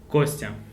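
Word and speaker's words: Костя: Kostya. Kostya. So yeah, the last two letters YA they pronounced like ya.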